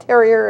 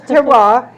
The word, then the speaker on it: terroir: We've been called Terrier and Terror, but it's terroir, and even that, don't worry about the pronunciation, just get there.